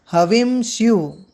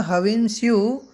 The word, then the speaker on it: हविंस्यु: हविंस्यु, देखिए यहाँ पर हविंसी शब्द था पर यहाँ पर संधि होकर के बना हविंस्यु शत्रुसद्भिः, इसका उच्चारण इस प्रकार होगा।